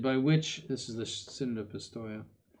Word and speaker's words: synod: The proposition of the synod by which, this is the Synod of Pistoia, I said on the first syllable synod, but the proposition of